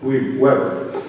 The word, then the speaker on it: Webert: Webert. And I just asked him to pronounce his name properly, and I just blew it.